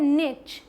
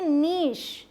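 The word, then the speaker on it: niche: American English में ये है निच, क्या है, निच। बट ब्रिटिश में बिल्कुल अलग है, इस CH को श पढ़ लेते हैं, क्या बोलेंगे, नीश, नीश। क्लियर, यहाँ आपको दिखाई दे रहा है नीश, क्लियर हुआ।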